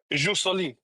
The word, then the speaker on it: jus soli: Is that how you pronounce it? Jus soli.